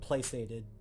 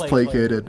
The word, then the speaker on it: placated: See see I know what you're talking about but I always pronounce it playated. Like I just I just looked up placate um on the internet. It's placated.